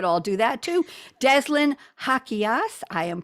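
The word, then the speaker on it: Jaquias: that you could all do that too deslin hakias i am pronouncing her i had to rehearse this one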